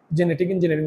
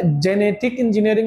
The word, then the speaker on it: জেনেটিক: পরিবর্তন করা হয় তাকে জেনেটিক ইঞ্জিনিয়ারিং বলে। এবারে জেনেটিক ইঞ্জিনিয়ারিং বা জিনেটিক ইঞ্জিনিয়ারিং উচ্চারণ করে।